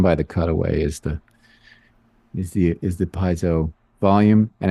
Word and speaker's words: piezo: Piezo.